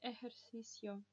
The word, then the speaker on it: ejercicio: Она у нас читалась как Х в слове ejercicio.